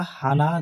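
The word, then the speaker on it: ふ: মায়ারা সাতা হানা দেয়, হানা। হ, হা, হি, হু। এই হুটা ফুর মতো উচ্চারণ হবে, ফু আর হু মিশ্রণ উচ্চারণ।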